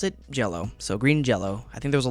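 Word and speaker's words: Green Jellö: jello right here which you might think to yourself oh that's a y so that must be jelly uh it is not it is green jello they pronounce it that way you see these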